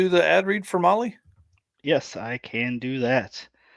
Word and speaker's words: Mahle: And for those podcast listeners, Molly is spelled Mahle.